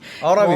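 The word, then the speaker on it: Ulta Beauty: 얼타뷰티를 발음을 이제 굉장히 어라뷰티. 원어민 발음으로 어라뷰티.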